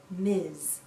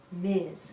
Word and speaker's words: Ms: we pronounce this as Miz Miz sounds like a z at the end Miz a woman can